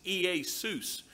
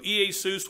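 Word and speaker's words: Ἰησοῦς: greek word for jesus the name jesus ea seuss is how you would pronounce his name in greek if i understand the greek correct correctly so ea seuss would be jesus name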